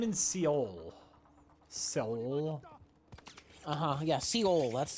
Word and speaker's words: Seoul: Uh-huh, yeah, Seoul. That's how you pronounce it.